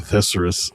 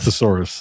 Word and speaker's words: thesaurus: But past couple of mashups, it's literally me like a thesurus of thesurus. Sex terms. A thesaurus.